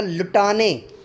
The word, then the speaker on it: لٹانے: کو سمجھنا پڑے گا، اگر ہم ٹے پر زبر لاتے ہیں تو بنے گا لٹانے، تھوڑا سا جو ہے وہ لمبا ہو جائے گا، لیکن اگر ٹے کو جزم کر دے دیں گے تو پھر جو ہے وہ لام کو ایگزیکٹ ساتھ ملا کر ہمیں پڑھنا پڑے گا لٹانے۔ سمجھ آ رہی ہے جی؟